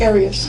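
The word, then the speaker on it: Arias: Um and I'm here with Jod Aras. Is that how you say it? Aras.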